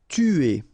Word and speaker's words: tuer: Tuer. Alright, remember, U is really pronounced like U, so it's not OU, but it's U, okay?